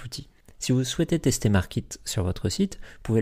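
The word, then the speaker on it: Markeet: Pour cela, quand vous créez votre compte sur Markit, donc Markit ça s'écrit M-A-R-K-E-E-T, donc .com, vous ajoutez le code INFLUENCE, tout attaché, donc I-N-F-L-U-E-N-C-E, et vous obtiendrez 20% de réduction sur votre abonnement.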